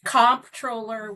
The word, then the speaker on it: comptroller: it and they say they've heard it pronounced controller, comptroller. Tell us what a controller does, and it's all about the bucks, right? That's absolutely right. And it is comptroller with a P.